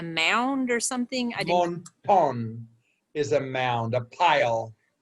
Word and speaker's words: montón: Monton is a mound, a pile. How do you spell that? M-O-N-T-O-N. And it's an accent on that second O, because monton.